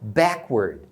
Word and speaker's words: backward: Nas outras palavras, normalmente a primeira parte é mais forte e a segunda é mais reduzida. Então você vai falar backward, tá vendo?